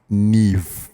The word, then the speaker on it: Niamh: So if I'm reading this correctly, Niamh is pronounced Neve. Yeah. Oh no, is it Neve or is it Neve? It is Neve. Neve. Yeah. And how does that work? As Irish, so I think they have a totally different manner of pronunciation.